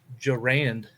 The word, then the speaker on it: Durand: However, Curtis Durand, I looked it up, that's how it's pronounced on the pronunciation guide, Curtis Durand, had a tremendous punt